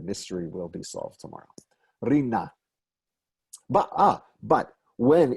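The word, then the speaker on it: רִנָּה: Actually, today, one would pronounce this with the stress on the second syllable, the last syllable, rina.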